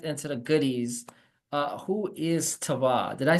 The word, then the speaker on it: Tevah: Before we get into the goodies, who is Tevah?